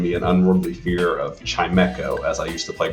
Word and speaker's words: Chimecho: This table is known as Chimecho. Oh, well, we call it Chimecho here. We know we're wrong. Correct pronunciations here at this table.